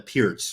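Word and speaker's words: Pirc: have a YouTube video called Canty works the perk I mean I've never had a problem with the perfect event or in fact it's called a pierce right for the people that are like sticklers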